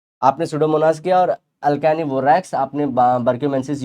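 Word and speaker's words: Pseudomonas: तो बैक्टीरिया लेके आ जाते हैं हम लोग, सीडोमोनास एसपीपी। अब ये सोडोमोनास देखो पी साइलेंट है, या तो एकानिवोरैक्स बारक्यूमेंसिस, ये लोग क्या करते हैं, ability to destroy पेरिडीन्स and other chemicals.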